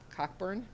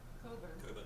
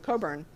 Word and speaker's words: Cockburn: mispronounce his name but sir cockburn Coburn Coburn okay the the British drop a lot of con I've been discovering so Coburn um he criticized that appointment because he said that Coburn was outwardly partisan and